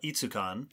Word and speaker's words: ETSU Con: ETSU Con, I think they call it Itsukon.